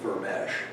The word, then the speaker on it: Vermes: Giza, it's spelled Vermes, but he pronounced it Vermesh for some reason. Giza Vermesh has been maintaining this translation for a very long time.